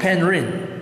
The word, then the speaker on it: Henry: what so it's spelled these days people say paid read but it's actually Henry so this border would